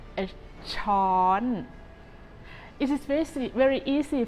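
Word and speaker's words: ช้อน: spoon in Thai a spoon is called a Chon it is very very easy for you to start pronouncing this word with shawl and gradually Rising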